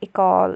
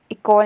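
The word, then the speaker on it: école: फिर हम ई को इ नहीं कहते बल्कि ए प्रोनाउंस करते हैं। जैसे कि इकोल नहीं इकॉल प्रोनाउंस करेंगे।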